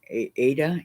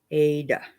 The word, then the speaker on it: Aida: okay theresa thank you i've been saying it wrong all these years aida got it thank you very much